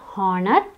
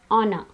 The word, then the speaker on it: honor: word is or no it's not a Horner it's honor now the word is